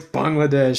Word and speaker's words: Bangladesh: like, no, it's Bangladesh. So no, nevertheless, thank you so much for the pronunciation, and I do appreciate the answer because it is a very complex.